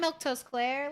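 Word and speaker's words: Milquetoast Claire: I'm Milktoast Claire. Let's turn that TV on. That's how you say my name if you were wondering. Milk Toast Claire.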